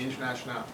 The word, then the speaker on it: Internationale: That's a sort of a Frenchified version of that's how you pronounce it, the Internationale.